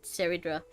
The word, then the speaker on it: Cerydra: I've been saying high sealants and Cerydra. It's Cerydra, high sealants.